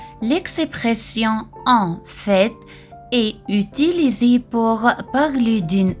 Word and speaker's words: en fait: La différence entre en fait, au fait, en effet. En fait, le T à la fin se prononce. L'expression en fait est utilisée pour parler d'une situation réelle ou